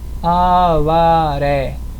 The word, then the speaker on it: Avaré: coloca o acento agudo próximo exemplo Avaré Avaré significa Padre terminou em e e tem como sílaba tônica a última sílaba acentua também próxima palavra mó mó